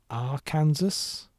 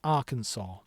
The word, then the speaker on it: Arkansas: with the Iowa Zent, does anyone prefer the R Kansas? The the R Kansas. What is it? What? Okay, I know it's pronounced Arkansas, right?